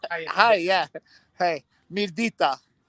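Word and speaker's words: Mirëdita: Hey, Mirdita. Say again. Mirdita. Yeah, it's like Mirdita.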